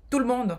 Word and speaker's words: tout le monde: simples de você pronunciar, no francês eles falam diferente, tout le monde.